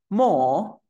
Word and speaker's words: more: Jeremy Cómo pronuncio esto more cierto te das cuenta que la e es muda ya la es muda